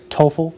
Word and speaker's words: TOEFL: know how to say it i think it's toefl it's t-o-e-f-l the test and most graduate schools